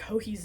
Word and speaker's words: Joji: And she also has a podcast it's like Joji's Knitting. And Joji is spelled Joji because it's Spanish. So the J's sound like H's, are pronounced like H's in Spanish.